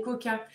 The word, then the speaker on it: quokka: totalement, Rottnest Island, vous pourriez aussi voir des kokas. Je ne sais pas si vous avez déjà vu ces animaux. Ça s'écrit Quokka.